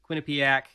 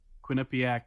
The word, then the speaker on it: Quinnipiac: Next on the docket, Michigan hockey ends their run through the postseason hockey season in the Frozen Four against the eventual champions, Quinnipiac, out of Connecticut, which, what a year for Connecticut, man.